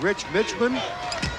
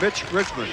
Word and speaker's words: Mitch Richmond: Said his name has been butchered by more people in this tournament, including us. He's been called Rich Mitchman. Milt Richmond. Rich Milman and it's Mitch Richmond.